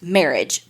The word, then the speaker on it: Merhige: those things called judge and it had like pronounced marriage beside it so that's what we're going to go with because that seemed legit and as soon as I like saw marriage and I saw it read I was like